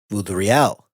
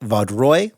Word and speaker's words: Vaudreuil: Also, as a further side note, during those episodes I had pronounced his name Vaudreuil. I was informed after the fact that Vaudreuil was a much better pronunciation.